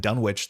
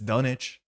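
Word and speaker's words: Dunwich: Um this is Dunich from my understanding. I've been going around saying Dunwitch the whole time. It's not that. It's Dunich. The Dunich horror, not Dunwitch.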